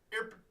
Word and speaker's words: Irpin: So it sounds like you're burping. Irpin.